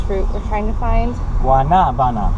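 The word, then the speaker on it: guanábana: We just talked for about 15 minutes to Carlos and Joe about the correct pronunciation of this fruit we're trying to find. Guanabana. Guanabana.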